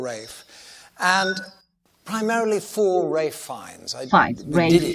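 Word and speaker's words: Ralph: is trying to sorry i think i said it incorrectly we did it for rafe and primarily four ray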